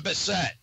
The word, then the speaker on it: Bassett: Is it Bassett or Bassett? It is Bassett is the European pronunciation, and it's Bassett.